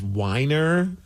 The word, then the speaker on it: Wiener: I did hear, I think the name was actually pronounced Weiner. But still, it's spelled Wiener.